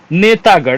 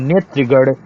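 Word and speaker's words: नेतृगण: नेतागढ़ सही नहीं है, नेत्रिगढ़ शुद्ध शब्द होता है, ठीक है। नेत्रिगढ़, नेतागढ़ नहीं है।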